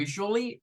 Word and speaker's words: usually: usualmente este igual tiene dos pronunciaciones pero nos vamos a quedar con la pronunciación como más frecuente que es esta usually con es esa es como como que como que hiciéramos una G con la u Us Us y esta